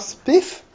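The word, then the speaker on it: XSPF: dann gibt es noch spif tatsächlich so spricht man das laut dem Wiki aus gut das ist ein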